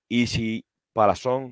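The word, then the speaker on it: Isi Palazón: Easy Palazón is how you pronounce that.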